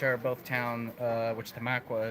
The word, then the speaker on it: Tamaqua: both town uh which tamaqua is one of those pennsylvania towns that you have to be a pennsylvanian to pronounce correctly because everybody else would be like what tamakwa there's a lot of